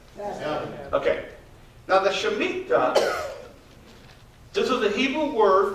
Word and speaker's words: Shemitah: It's called Shemitah. Shemitah, she, like she, me, ta, okay?